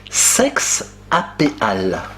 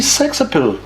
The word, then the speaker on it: sex-appeal: Il faut le prononcer d'une manière anglo-saxonne. Et c'est-à-dire? Sexe à pile. Ah, on dit sexe appeal.